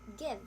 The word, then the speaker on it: give: So there are exceptions where the vowel is short, even with a silent E. So, for example, we have the word give. The word give has short I instead of long I. Why is it not give instead of give?